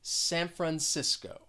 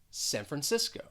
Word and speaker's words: San Francisco: we're talking about well that second word the first syllable has the schwa and that c is gonna sound well more like an s and that second syllable is stressed san francisco san francisco then we have los